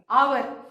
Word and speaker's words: hour: The spelling of hour has got H, है ना? But when we pronounce this word, the sound comes of again O, है ना? H का कहीं भी sound नहीं आ रहा है.